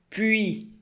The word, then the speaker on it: Puis: Puis, não pronuncia o S.